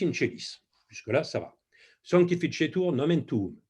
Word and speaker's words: Sanctificetur: Sanctificetur nomen tuum. Sanctificetur, il faut prononcer à l'italienne.